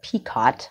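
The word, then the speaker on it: picot: the brick stitch and i call it peacot i don't know if that's how you pronounce it it's p-i-c-o-t and this is a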